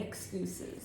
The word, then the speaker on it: excuses: And we do not tolerate any excuses. It's actually pronounced excuses. Wow. Excuses. Excuses. Excuses. The emphasis is on the second E.